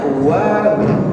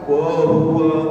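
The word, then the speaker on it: وهو: Selanjutnya wa hua wa hua wa makhraj huruf wa dia cara membacanya dari monyong kita senyumkan bibirnya wa hua jangan w hua wa hua tidak sempurnakan hua kita tarik dari monyong ke senyum wa wa hua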